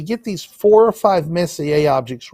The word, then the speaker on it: Messier: april if we get these four or five messier objects right in the sunset and we stay